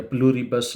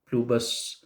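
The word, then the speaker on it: Pluribus: ये है कि उसमें प्लूरियस या प्लूरिबस आपने पढ़ा तो आर आई उसमें साइलेंट है। ये लैटिन का वर्ड है। प्लूबस इसको कहा जा सकता है, कुछ लोग स्ट्रेस कह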